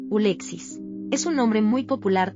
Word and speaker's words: Alexis: En inglés, el nombre Alexis conserva su forma original, pero su pronunciación varía ligeramente. Ulexis es un nombre muy